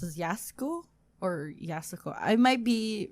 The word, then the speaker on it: Yasuko: I think it's Yasuko. Yeah, because usually the U after an S is silent for them. Yeah, they don't pronounce it.